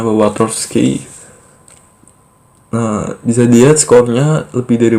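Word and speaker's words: Wartofsky: Nah, di sini ada score Branch and Watowski, atau bacanya Watowski.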